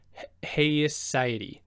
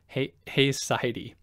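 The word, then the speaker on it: haecceity: what they call and I might pronounce this incorrectly heisy h h a e c CI t y I believe Hy which are the kind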